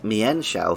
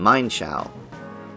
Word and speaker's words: Mienshao: I was inclined to agree with Andy that Mienshao feels like the right pronunciation, rather than Mienshao. However, in the anime and games, where Mienfoo and later Mienshao are used by the Shallow City gym leader Karina, the pronunciation is Mine, as taken from Ermine.